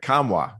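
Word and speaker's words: Nkamhoua: And I think the guy who could step up and have a huge year for this Volunteer team, Olivier Kamwa, did I pronounce that right?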